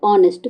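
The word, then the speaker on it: honest: क्या पढ़ते हैं बेटा ऑनेस्ट तो ऑनेस्ट में ओ देखो ओ आ रहा है ना एच का तो साउंड नहीं आ रहा है तो एच क्या हो जाएगा इसमें साइलेंट वर्ड हो जाएगा तो एच क्या हो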